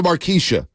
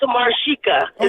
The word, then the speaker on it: Marika: uh let's go to maresa in Livermore maresa good morning maresa what's oh my goodness you guys always say my name wrong it's Marika oh Marica my bad